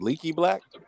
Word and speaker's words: Leaky Black: It's like Leaky Black.